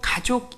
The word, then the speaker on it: 가족: 이라고 발음을 했습니다 그리고 가족 이라는 단어는 가짜를 짧게 읽어야 되는데 세월호 참사 가족 대체